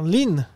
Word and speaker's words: Lung: Alexander Lung. Ça se prononce Lung comme un U très massif. Lung. Alors. Mais on peut dire Ling parce que.